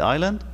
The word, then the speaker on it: island: other side of the island al jazeera look at island we don't say iceland we say island because this is silent al islam when you